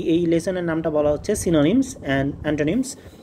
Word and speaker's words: synonyms: তো এটাই এই লেসনের নামটা বলা হচ্ছে সিনোনিমস এন্ড অন্টোনিমস। তো সিনোনিমস এন্ড অন্টোনিমস। ঠিক আছে? অনেকের উচ্চারণের সমস্যা হয়। তো তাদের জন্য আরেকবার বলতেছি। সিনোনিমস অন্টোনিমস অনেকে সাইনোনিমস বলল না আবার ঠিক আছে তো এটা সিনোনিমস আর এটা হচ্ছে অন্টোনিমস